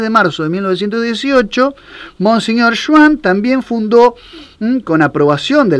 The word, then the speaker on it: Jouin: Podemos aclarar que se escribe Jouin, ¿no? O sea, lo aclaramos Juan, por si alguno Juan, lo quiere googlear.